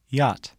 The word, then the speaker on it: yacht: you exchange the watch the letter combination c h is silent in the word yacht listen and repeat yacht to make the sound